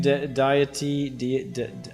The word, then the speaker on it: deity: uh uh the Supreme deity how do you pronounce this Theory really deity deity okay I will never learn